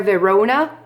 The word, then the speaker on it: Verona: In fair Verona, Verona, c'est le O qui va prendre l'accent tonique et c'est comme ça qu'on va scander.